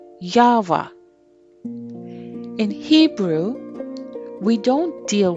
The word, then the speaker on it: Yahweh: Or, as we say in English, YHWH, and pronounced Yahweh.